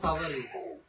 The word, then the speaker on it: সাভার: সাবান না, উচ্চারণটা তো সাভারই, সাবান না, ও সাবান, সাভার স্মৃতিসৌধ।